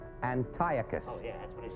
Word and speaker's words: Antiochus: in my production of Antiocus. You mean No, no, that that that's Antiochus.